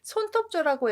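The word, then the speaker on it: 爪: 돌려 놓은 거라고 해서 이런 한자를 손톱 조라고 해서 손이라고 보시면 되겠습니다 손톱 조라고 읽지만 손이라고 보시면 좋겠어요 옛날에는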